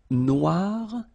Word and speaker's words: noir: So it's quite funny because you will have to add this E at the end of noir for the feminine form, but then you don't pronounce it. Okay, so phonetically it is exactly the same.